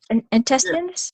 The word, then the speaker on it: intestines: which is intestines right it sounds like you can't even figure it out because it sounds so different intestines it's like the emphasis is being put on a syllable that isn't what we you put the emphasis on the wrong syllable yeah yeah yeah yeah